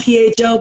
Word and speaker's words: pho: Do y'all know what pho? It's spelled P-H-O, but it's pronounced pho.